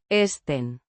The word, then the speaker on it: estén: Pronounced. Estén. With a soft T. and a faint N.